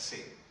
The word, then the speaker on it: Satan: We pronounce his name in English as Satan.